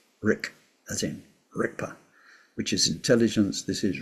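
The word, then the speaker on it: རིག་པ: And it sounds like a K, but it's spelled with a G. So if you see transliteration, you see rigpa, but it doesn't sound like that. It sounds like rikpa, like a K. But people say rigpa.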